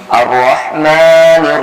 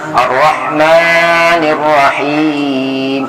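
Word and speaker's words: الرَّحْمٰن: Ya, nah, di sini sering salah di ro. Ro ini biasanya karena di sini ada tasdid, kita sering terlalu bergetar. Jadi tidak boleh bacanya Ar-Rahman. Nah, kalau udah ada getar sudah begitu tidak boleh. Walaupun ro itu tasdid, tapi ro-nya tidak boleh lama. Jadi kita berhenti sebentar, tapi jangan saya bergetar.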